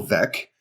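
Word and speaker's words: Veeck: back when called VEC as in wreck you know as in that's how you pronounce it because it would be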